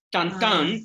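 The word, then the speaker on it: Tintin: Tantan, que así se pronuncia en francés.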